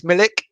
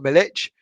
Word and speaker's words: Milik: moyes ayah scott b militch is pronounced ick not itch millik okay i don't know um i've already been pulled on that one by the polsky okay it's milik and not militch uh grill player on